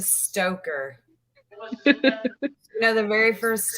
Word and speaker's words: Stocker: in justice for leroy stalker that is the group ran by alyssa ashley you said his name wrong again i do it's a stoker you know the very